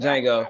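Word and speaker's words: Django: my bad my bad the D is silent Jango make sure you say it right Jango my bad my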